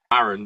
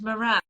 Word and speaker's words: Moran: Is it what Moran? How do you say it, Ben? I say Maran, don't I? Darling, it's Moran.